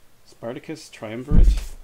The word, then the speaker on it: Spartacus Triumvirate: So this is Spartacus Triumvirate. Did I pronounce that right? Yes.